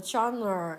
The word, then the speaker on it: genre: 그럼 이제 한 호흡 떼고 주어가 나오겠거니 생각했는데 또 genre, 이게 장르가 한국말로 장르인데 영어에서는 뭐 genre 이렇게 발음한대.